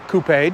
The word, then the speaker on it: coupe: And at 185.9 inches long, the 3 Series is not quite dead center between the smaller 2 Series Coupe, or Coupe, depending on how you say it, and the much larger all-new 5 Series.